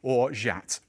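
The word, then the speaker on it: orgeat: can't do without and i'm going to say it properly if you watch my channel this will be hilarious but or jat it's french i always say orgy on my channel cornish chaff but all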